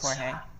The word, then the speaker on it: Jorge: the crazy thing it's people correcting me how to say my name so like with my family like i grew up in the dominican republic so i just go by jorge which is my name